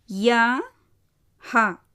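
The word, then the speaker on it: यह: முதல் வார்த்தை யா ஹா யஹ். யா ஹா யஹ். முதலாவது எழுத்து யா, இரண்டாவது எழுத்து ஹா. ஹா என்னது? வியஞ்சன். ஸோ புள்ளி வச்ச மாதிரி உச்சரிக்கணும். ஸோ என்னாகும்? யா ஹா யஹ்.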